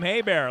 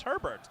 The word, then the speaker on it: Herbert: wanting to call him hey bear like the old new orleans saints quarterback bobby a bear but he has assured me it's pronounced with all the letters herbert all right la brings